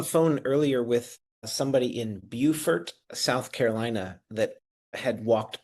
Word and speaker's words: Beaufort: Beaufort, and you know what?